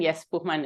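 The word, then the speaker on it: Johannes Buchmann: you thank you very much for the introduction yes bman is the correct pronunciation also otherwise your pronunciation was on point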